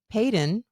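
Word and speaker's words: Paedyn: and removed from society Peyton that's how you say it no you say it with confidence and I love that we're gonna roll with it then Peyton it's it's spelled like P AE d y n Peyton feels good Peyton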